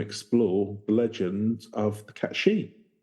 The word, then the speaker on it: Cait Sith: the legend of the cat shei what the cat she so it's like cat she yeah it's a fairy